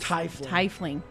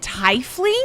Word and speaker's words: tiefling: here oh geez t-i-e in german you pronounce the second letter in the i-e combo so if it's i-e you pronounce the e if it's e-i you pronounce the i so if it was